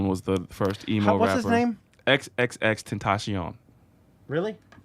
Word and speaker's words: XXXTentacion: you say it yeah it's like Spanish as I'm sure yeah just or you can say rolls right off the tongue Tim passion I thought it was like triple extension or something people's the people's people